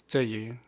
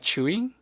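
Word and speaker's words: Tzuyu: explaining this but that's that's the Taiwanese pronunciation of her name so I don't actually because a lot of people pronounce it like chewy which I actually think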